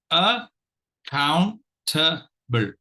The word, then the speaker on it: accountable: b l e and this word divides itself into four syllables and the syllables are syllable one is a syllable two is Count syllable three is TA and syllable 4 is built so now fairly easy